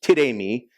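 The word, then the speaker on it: τίθημι: And so this is a Greek word, tidemi, T-I-D-A-Y-M-E-E, if you were to spell it phonetically.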